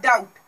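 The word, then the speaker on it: doubt: ठीक है, जैसे कि एग्जांपल है डाउट। ठीक है, डाउट, यहाँ पे टी से पहले बी क्या है, साइलेंट है, इसे डाउट नहीं कहेंगे, डाउट कहेंगे।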